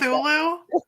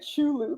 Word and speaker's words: Cthulhu: Pronouncing it Chulu this whole time. I'd be like Chulu. I knew that was wrong. It's because there's that you your brain skipped over the tea.